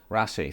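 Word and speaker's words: Raasay: Rassai, thank you. Nice. I was going to say that wrong. Scottish here, pronunciations.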